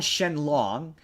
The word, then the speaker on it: Shenron: they they they okay they call Shenron Shen long which is like yeah okay technically speaking that's his name in Japan right that's but but that's